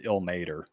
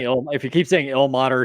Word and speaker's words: Ilmater: It's Ilmater. If you keep saying Ilmater, it's just gonna mess with me the whole time.